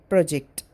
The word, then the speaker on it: project: examination delicious historic and the word project is stressed on first syllable if it is noun and if it is verb it is stressed on the second syllable project the word above is